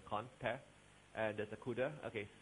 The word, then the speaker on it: cdr: And there's a CUDA. Okay, CDR is pronounced CUDA, car and CUDA.